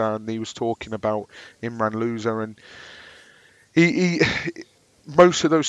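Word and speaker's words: Imran Louza: the first of june it was announced that imran loser unfortunately that is how he pronounced his name so now we've got loser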